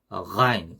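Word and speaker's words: غين: 그래서 가인, 가인. 우리 각을 할 때 가 하잖아요. 그 가 소리입니다.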